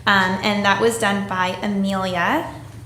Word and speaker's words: Amelia: And that was done by Amelia. Did I say your name correctly? Thank you. Sorry? So if you wanted to come forward and say some words, we would appreciate it. Yes, you pronounced it right.